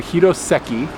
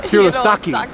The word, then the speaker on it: Hirosaki: And then we came back to Hiroseki. Did I finally say it right? What? Really? Hirosaki.